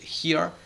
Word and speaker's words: here: Y el here también. Esto es una J.